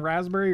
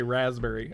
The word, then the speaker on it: raspberry: Do you ever pronounce the P in raspberry or just say raspberry?